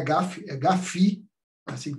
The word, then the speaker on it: GAFI: pelo grupo de acção financeira internacional não é garf garf assim que pronuncia de desgaste as quiserem pronunciar FF também